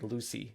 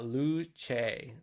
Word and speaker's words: Luce: So when I try reading it, just by reading it, it looks like Lucy, Ferrari Lucy, but apparently it's pronounced Luce, which I'm sure Luce. that's a yeah Italian word for light actually, Okay, yeah, those which wacky Italians and their pronunciation.